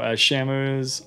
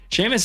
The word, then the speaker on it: Seamus: Seamus is a weird spelling. It's spelled like that. And it's very impossible to know that that's how you would pronounce that term if you just saw it written.